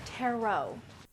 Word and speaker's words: tarot: strip poker perhaps oh never mind these are terit cards anyway txon it's pronounced tarot what they find in the box is a